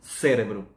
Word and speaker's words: cérebro: basicamente igual a espanhol A única diferença que a força de pronúncia se encontra Logo no início da palavra contrariamente ao espanhol nosos cerebro e em português diz-se cérebro Ok aliás nós temos